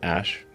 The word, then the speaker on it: Æ: x the letter x the a e is like pronounced ash a12 is my contribution